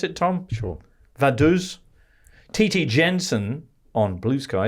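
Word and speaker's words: Vaduz: to lickstein in vadu is that how you pronounce it Tom sure vadu Titi Jensen on Blue Sky says will the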